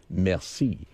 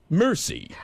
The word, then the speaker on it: merci: you look at it, you say merci. But when the way Brad pronounces it, it's really embarrassing. He gets it and he gets the bill and looks at it and says, mercy.